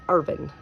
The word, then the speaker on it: Irvine: Um, so it's Urban with kind of like they spell it the same, but we don't put an E at the end of it when we say it.